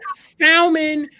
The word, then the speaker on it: salmon: Let's talk about salmon and rice pilaf, maybe. Salmon, you don't pronounce the L in salmon, Gabe.